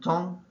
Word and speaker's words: temps: D-A-N-S, M-O-N, temps is T-E-M, silent P, silent S, and then libre is L-B-R-E.